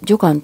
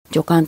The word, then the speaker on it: 女官: ですところが最近の言葉だと女官と読むようになっていますのでつい女官というふうに町がやって